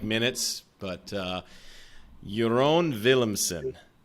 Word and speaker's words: Jeroen Willemsen: like minutes but uh your own williamson how did i do very well pronounced sir williams but yeah it's typical dutch name so yeah if everybody